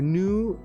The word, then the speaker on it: GNU: this stream using the new gnu it's pronounced new iscap browser uh is